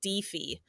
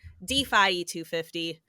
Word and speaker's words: DPhiE250: with that difference I have had people say defeat because the Greek letter Phi is actually pronounced fee in other places of the world